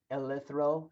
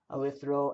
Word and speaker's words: eleuthero: It's called eleuthero, is how I pronounce it. Hmm, E L hmm, E U hmm, T H R O, eleuthero, and that's awesome.